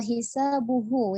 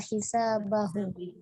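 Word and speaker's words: حسابه: Illa bihaqnihi wa hisabuhu ya bukan wa hisabahu.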